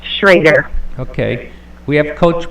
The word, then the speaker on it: Schroder: saying it wrong it's it's spelled schroer but pronounced shraer okay we have Coach B in the office